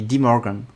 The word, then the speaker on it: de Morgan: comment on le dit apparemment on dit de Morgan donc voilà donc avec mon prononciation anglaise ça donne 10 Morgan euh alors interb